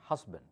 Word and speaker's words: husband: Husband, not husband. Here the S sounds like Z.